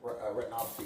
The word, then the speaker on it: retinopathy: Diabetically, I have diabetic retinopathy. It's called. I'm sorry. How do you pronounce it?